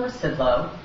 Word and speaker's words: Rzucidlo: I'm Rzucidlo. The Z is silent. When you say it, it always throws people off.